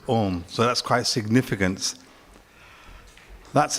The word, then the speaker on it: Om: It's the Ah sound, Ah. And sometimes it's called Om. That sound that actually comes through is written and pronounced as Om.